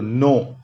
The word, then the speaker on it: know: नोन, KNOW, I repeat once again, you see the pronunciation, KNOW, no, past tense new, KNEW, के silent, और past participle नोन, के silent वहां पे।